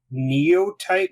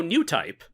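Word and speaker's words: Newtype: think it would be Neo Type magazine. Oh, New Type. New Type. Thank you for saying it correctly.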